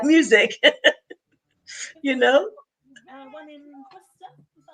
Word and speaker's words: Worcester: One in Worcester. Is that how Yes, you pronounce it? Worcester.